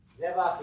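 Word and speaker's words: זבח: Zevach is nice, it has at least one guttural. Right? What does zevach mean? Sacrifice, okay? So it's got the accent on the first syllable.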